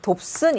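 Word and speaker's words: Dobson: 여기 보시게 되면 이 DU를 읽을 때 돕슨이라고 읽습니다. 그냥 촌스럽게 한글로 써둘게요. 돕슨 이렇게 읽습니다.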